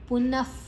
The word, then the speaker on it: ಪುನಃ: ಗಾಳಿ ಹೊರಗೆ ಹೋಗುವಂತ ಶಬ್ದ ಪುನಪ ಮುಂದಿನ ಅಕ್ಷರ ಪು ಇದೆ ಪುನಃ ನಹನ ಆದ ನಂತರ ವಿಸರ್ಗದ ಉಚ್ಚಾರಣೆ ಹ ಭೂತಗ್ರಾಮ ವಿಮಂ ಕೃತ್ಸ್ನಂ ಭೂ